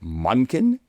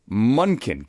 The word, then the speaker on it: Monken: And for the record, because I've been getting some social, is it Monken? It's Monken. Gibby, you have the official ruling here? Rhymes with Duncan.